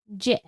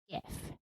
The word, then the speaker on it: GIF: The creator of the format says it's pronounced with a soft G, as in GIF.